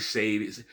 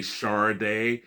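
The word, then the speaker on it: Sade: People say it's shardet shady. The reason why on her first album on their first album, Diamond Life, when they the the hype sticker would say would actually um do a phonetic type of thing and it would say Char Day.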